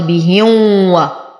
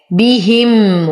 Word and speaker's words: بهم: أظهر ما تكون الميم عند الواو لاتحادهما بالمخرج بهم ومن الأخطاء الشائعة أن يقال بهم كإدغام، وهذا خطأ. بهم ويمد، وتم ضمة الميم وضمة الدال مع التشديد يمدهم، وتم ضمة الهاء.